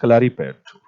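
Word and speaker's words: Kalaripayattu: Exactly pronounced Kalari Payattu.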